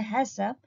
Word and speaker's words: HACCP: about principles of hassan haccp usually pronounced as a hessop have a full form